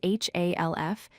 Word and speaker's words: half: The word half is spelled H-A-L-F, but we pronounce it as half. The L is silent.